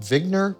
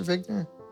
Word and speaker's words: Wigner: people would ask him do you pronounce your name vigner professor vigner and he said no I pronounce it vigner and he very much wanted to be an American uh but of course he had such a strong accent that he could not say the letter W uh in its American